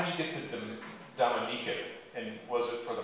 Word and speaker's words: Dominica: I think I pronounced it Dominica when I first landed, but yeah, Dominica, not the Dominican Republic.